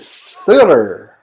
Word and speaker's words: Sutter: Now batting, number 12, Grady Sutter. Please let me know if I'm mispronouncing. It's Sutter. That's spelled like the hockey family Sutter.